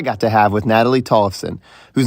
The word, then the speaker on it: Tollefson: Yeah, Tollefson, you got it.